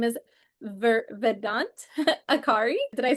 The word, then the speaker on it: Akhauri: His name is Vedant Akhauri. Did I say it right? Vedant Akhauri.